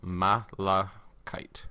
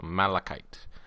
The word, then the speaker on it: malachite: Breadwinner told me that this green stuff is pronounced malachite. So malachite.